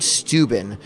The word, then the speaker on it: Steuben: i put in uh baron steuben actually pronounced stoybin i think and he was this